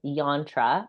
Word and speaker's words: yantra: it so it's called yantra how do you spell it y a n t r a okay so just like Mantra but with a Y um okay so show